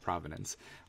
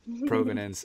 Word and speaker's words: provenance: potential to solve ownership, provenance, which I pronounced wrong in the first episode. I said provenance. Provenance and digital rights, and